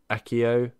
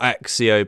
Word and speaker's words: Accio: what's your favorite spell mine is accio not axio by the way they said it wrong in this game it's accurate why they said it like that it's accio it really annoys me